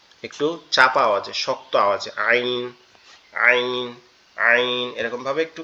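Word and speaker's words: ع: শক্ত আওয়াজে আইন আইন আইন এরকমভাবে একটু কি? চাপা আওয়াজে উচ্চারিত হয়। কিন্তু গয়ইনটা হচ্ছে কোন জায়গা থেকে উচ্চারণ হবে?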